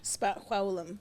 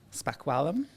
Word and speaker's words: spaxwawlm: how do you say that in your language spum spum SP spum nice my name in my indigenous